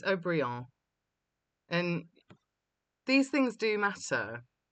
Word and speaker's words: Haut-Brion: Pronunciations are all wrong. Lafite, it's Lafite, and it's Haut-Brion, and these things do matter.